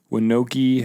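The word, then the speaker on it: Wyanokie: state it's called The winoki High Point linoki winoki how do you spell that I'll tell you in a second W or L it's w winoki High Point w-y-a-n-o-k-i-e John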